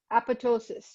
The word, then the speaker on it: apoptosis: The second P is silent, apoptosis.